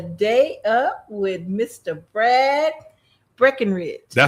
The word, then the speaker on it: Breckenridge: But uh no, it's Breckenridge.